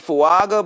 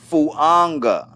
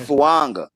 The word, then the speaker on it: Fuaga: Like it has an N in it. I put a Why not put a N in it? We got We got Etchin and we got Fuanga.